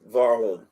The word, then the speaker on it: Warholm: It's pronounced Warholm.